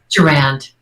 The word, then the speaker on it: Durand: Pronunciation of your last name, is it Durand or Durand? Durand. Durand. It was French. It was, but it was anglicized to Durand.